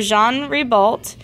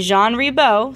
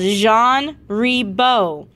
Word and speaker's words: Jean Ribault: Ribault right what's pronounced it's a French name it's called Jean rebo landed on a small island in the st.